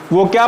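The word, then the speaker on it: walk: फॉर ए, ये वॉक मत पढ़ लेना बाबू लोग, वो क्या पढ़ा जाता है? वॉक पढ़ा जाता है। यल वहां पे क्या है? साइलेंट है।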